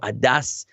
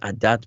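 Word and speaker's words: עדת: Last week I would have said Se'u rosh kol adas b'nei Israel, not adat b'nei Israel. Lemishpachosam leveis avosam, with a pronounce it with an S sound instead of a T.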